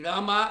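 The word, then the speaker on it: राम: não a a a na pronúncia dessas línguas o a longo final ele é omitido então você tem em vez de rama você fala Ram em vez de avatara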